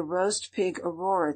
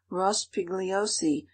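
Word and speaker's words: Rospigliosi: go and see the roast pig aurora today answered matilda who insisted on pronouncing ross pigliosi in that improper manner i like this infinitely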